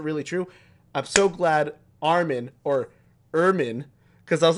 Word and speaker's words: Armin: watching and i'm like i'm not convinced the characters in the show know how to pronounce each other's name at this point i was like it's like it was just so weird because i'm like i thought we all agreed it was armin um it close enough close